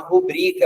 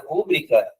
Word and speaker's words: rubrica: Quando tem um documento que eu preciso assinar, isso é uma rubrica. Alguém fala, faz uma rubrica, né? Dessa maneira. A rúbrica é um erro de acentuação, tá certo?